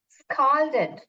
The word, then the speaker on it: scald: दूसरा जो है स्काल्डेड, स्काल्डेड का प्रोनाउंस स्कॉल्ड, स्कॉल्ड करके बोलते हैं।